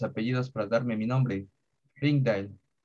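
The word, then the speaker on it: Rijndael: Combinaron sus apellidos para darme mi nombre, Ringdale, pronunciado Reindal para los que no sean belgas.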